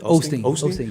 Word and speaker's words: Osteen: Osteen, yeah.